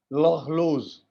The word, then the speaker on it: horloge: और लोज है, एच तो साइलेंट है, और लोज, सो लॉर्लोज. आर के कारण इट इज ऑल the problem is because of आर.